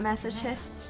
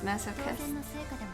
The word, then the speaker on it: masochist: It's not masochists, it's masochists. What was a funny pronunciation? Is it really that funny? Because I grew up thinking it's masochists until chat was like, huh, what the fuck did you just say? It's actually it's a masochist with a hard K